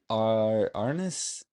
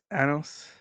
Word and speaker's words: Anos: Is it Arnis? Anos. Ano. Okay, okay. How, I didn't how do want they to.